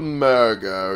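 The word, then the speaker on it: Murgo: box being sailed by murga over here like that's how you pronounce the name mystical mergo yes that's his name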